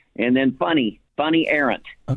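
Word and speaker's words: Fany: It's spelled f a n y. But in Europe uh f a is is like you.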